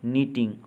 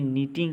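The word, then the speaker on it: knitting: Wrong, no, नीटिंग, honest, शाम। अब देखिए कि नीटिंग में के और दूसरी टी का उच्चारण नहीं हुआ, बोलने में नीटिंग ही आया।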